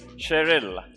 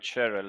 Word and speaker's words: Sheril: stage as we would like to felicitate you cherel yes I would like to apologize for mispronouncing your name I'm slowly getting used to it I was byhe Harting it Cheryl Cheryl Cheryl like ja now one of my